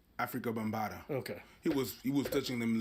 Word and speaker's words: Afrika Bambaataa: Afrika Bambaataa.